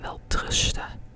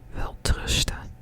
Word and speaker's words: welterusten: And we kind of drop the N, and when we pronounce it, we kind of say welterusten, welterusten.